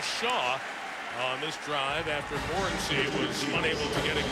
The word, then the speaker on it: Morency: We asked him yesterday, how do you say your name? And he said, Kirk, you're my witness. Morency. He said Morency to yes.